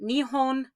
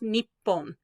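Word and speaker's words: 日本: put nitsy next to hon then we get nihon sometimes pronounced nippon like a usa it'll be nip boom okay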